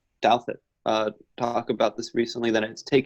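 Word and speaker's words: Douthat: Douthit.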